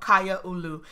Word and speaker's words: Kaiaulu: this LP is called kya aloo and I'm gonna put it on the screen right now so you can see how it's pronounced it is Hawaiian and it means community